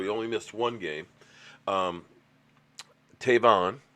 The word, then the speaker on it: Tavon: only missed one game tavon I hope I said it right cuz I keep saying Trayvon and everybody kills me on it Tavon Austin of